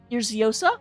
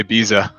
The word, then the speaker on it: Erziosa: we're also joined by erziosa hopefully i'm saying your name yes ah you're getting it right it's all right my own team doesn't even say it right they call me ibiza so first of